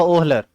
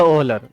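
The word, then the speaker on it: Wöhler: बाद में बर्जीलियस का ही एक चेला था जिसका नाम था ओहलर। ठीक है, इसका स्पेलिंग है एफ ओहलर, मतलब WOHLER।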